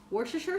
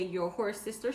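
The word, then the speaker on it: Worcestershire: sauerkraut you'll need ketchup you'll need work sure sure sauce but some people can't pronounce it so they say your horse sister sauce you'll need mail you'll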